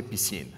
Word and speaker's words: Piscine: enough okay what our product is rose a piscine the pronunciation is like PE + + scene so